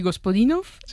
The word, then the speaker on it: Gospodinov: Ayúdanos a pronunciar los autores. A ver, Georgi Gospodinov, Zdrafka Eftimova y Vera Mutavchieva.